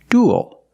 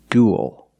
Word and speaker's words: dual: different pronunciations we have the first word is dual we see uel making the same sound as before like pool and cool dual and it ends with a dark l because the L is